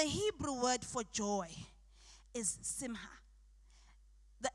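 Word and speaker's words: שמחה: And the Hebrew word for joy is simha. The H is the C there is silent. It's simha.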